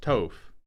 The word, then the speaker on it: Toph: By the way, Toph is pronounced Toph. It's like tough, but with the word opposite of un.